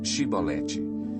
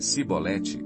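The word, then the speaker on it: Chibolete: Se respondesse que não, diziam: Então diga Shibolete. Se ele dissesse Sibolete, sem conseguir pronunciar corretamente a palavra, prendiam-no e matavam-no no lugar de passagem do Jordão.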